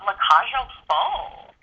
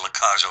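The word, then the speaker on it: La Cage aux Folles: tony award-winning revival of le cajo fall wow i was going to mispronounce that anyway i'm glad you said it i was going to say la cajo and that's the way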